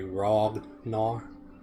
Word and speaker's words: Ragnar: It's actually Ragnar. Ragnar.